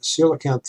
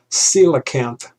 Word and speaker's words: coelacanth: it mexico the coelacanth for those of you who don't know how to pronounce it i believe that's how you pronounce it it's coelacanth though the spelling is is kind of weird but this is protect